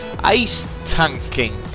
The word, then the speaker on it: Ice Tanking: is from the user Ice Tanking. Yeah, that's pretty much how it's pronounced, I'm pretty sure. It could be a take on the spelling of ace tanking, but it's pronounced ice tanking.